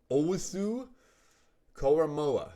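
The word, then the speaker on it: Owusu-Koramoah: I have Jeremiah Owusu Koramoah, right?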